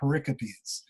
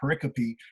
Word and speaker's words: pericope: stories are often called pericopes and if you look at it on typed out in words it looks like pericope like periscope without the s but it's pronounced pericopy and that is in